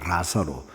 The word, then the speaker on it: 나사로: 나사로라고 해서 우리가 니은 니은에서 시작을 하는데 그 성경을 그 헬라마을 읽어 보면 엘 엘 발음 리을자입니다. 라사로 북한에서는 그렇게 하면 그냥 라사로라고 하는데 남안에서 우리가 이제 앞에 말이 리을일 때는 리으로 이제 바꿀 수 있는 경향이 있기 때문에 나사로 나사로 하거든요. 근데 LA입니다.